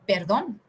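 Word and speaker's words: perdón: the next one is perdon in Spanish is a tongue rolling pronunciation so you should feel while you are pronouncing it is very useful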